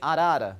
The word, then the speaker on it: arara: So we usually say arara, but I believe there are a lot of variations depending on which part of the world you are.